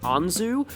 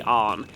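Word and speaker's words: 杏: first came out like the kanji and her name a lot of people thought that it may have been like pronounced anzu uh but no it was actually arm and also um takamaki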